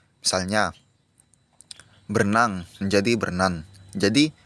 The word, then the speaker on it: berenang: hilang contohnya tadi ya berenang diucapkan dengan berenan itu salah itu harus diperbaiki menjadi berenang kemudian yang ketiga yaitu